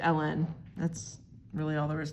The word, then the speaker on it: ln: n like that okay it's read as Ln sometimes people say it like the woman's name Ellen um but you know it's Ellen that's really all there